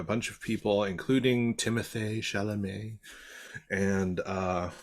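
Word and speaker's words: Chalamet: of people including Timothy shalam and uh I'm sorry I have to say his name like that because he has an A on his e his double e at the end of his name so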